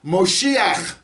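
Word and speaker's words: מָשִׁיחַ: the greek word but in hebrew it's moshiach and mashiach is mam shin yod khet it ends in the hit all right um by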